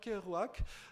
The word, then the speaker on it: Kerouac: l'auteur symbole c'est évidemment jacques kerouac qu'on peut prononcer à la française parce qu'ils étaient québécois d'origine il a d'ailleurs écrit en français aussi jacques kerouac donc ces divers livres